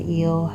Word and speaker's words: E@L: Inside the EEL health and wellness app, E at symbol L, health and wellness app, pronounced eel like the ocean creature.